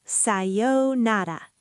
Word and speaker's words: さようなら: Listen to sayonara. さようなら、さようなら。 Sayonara. Even beats, not sayonara. All syllables equal.